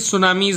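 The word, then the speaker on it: tsunami: इसमें T silent है इसलिए सुनामीज आएगा, सुनामी कहते हैं.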